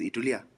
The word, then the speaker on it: Itulya: Pronounced Itulya.